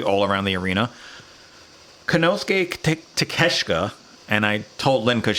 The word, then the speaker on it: Takeshita: Konosuke Takeshita, and I told Lynn because she was sitting next to me. I go, if you pronounce his last name the way it's spelled, it's Takeshita.